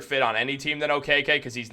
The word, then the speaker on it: Okeke: I'm now also learning it's okk not oiki so I'm going to